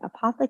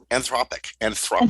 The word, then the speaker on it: Anthropic: Google, Microsoft, OpenAI, and I can never say that other company, Apothic, I think that's the name of it. Anthropic. Anthropic, that's it. That's how you say it.